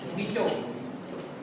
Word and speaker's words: mojito: In mojito the J is silent. But J is not silent. The sound is coming of H. Mojito.